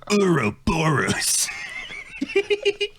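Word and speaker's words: Ouroboros: on the just now here's the pronunciation I go by it's Albert Wesker Resident Evil 5 uro borus so yeah an acrylic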